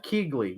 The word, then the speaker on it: Keighley: guy right he's just standing I'm sorry Geoff Keighley yeah that guy yeah then she don't pronounce the G yeah I'm doing it anyway